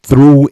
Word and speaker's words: through: Through, you don't even pronounce the G and the H.